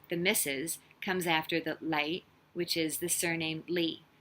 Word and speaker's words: 李: But this one definitely is with the L because Li. So Lei and Lei, same sound, same pronunciation. It's a different character, of course. The character for the surname Li is completely different from the character for you, but it's pronounced the same.